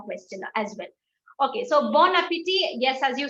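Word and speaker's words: bon appétit: like to learn is in general the last letter of a word is not pronounced yes that was the first rule that we learned but if your second word starts with a bubble if your second word starts with a bubble so bon appetit a starts with a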